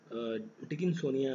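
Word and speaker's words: Dickinsonia: नाम रखा गया है डिक्सोनिया, डिकिंसोनिया, ठीक है, डिकिंसोनिया आप इसे प्रोनाउंस कर सकते हैं, डिकिंसोनिया वॉज फाउंड एट, ये कहाँ पर देखने को मिली है, ठीक है।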